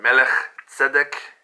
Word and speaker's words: Melchizedek: how to say that even named the melchizedek or bel zadek or melech zedek is more of a proper pronunciation which is king of